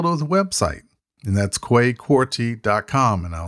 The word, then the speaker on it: Kwei Quartey: go is go to the website and that's quay quarty dot com and i'll spell that out for you k w e i